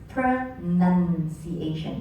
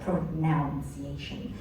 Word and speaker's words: pronunciation: words for instance the word pronunciation is pronounced as pronunciation it's not pronounced as pronunciation pronunciation so the